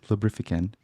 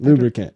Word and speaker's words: lubricant: see you next time don't forget to use lubrifiant is there a specific lubrifiant that it's better than others or lubrifiant how do you say it lubricant lubricant that's okay in Portuguese say lubican wow